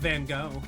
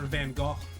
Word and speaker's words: Van Gogh: Um, well, you could always talk about Van Go or Van Go, depending on how you want to pronounce it, if you want to be pretentious or not.